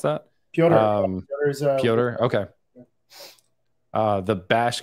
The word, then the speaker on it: Piotr: Peter is saying, or I assume that's how you pronounce that. Piotr.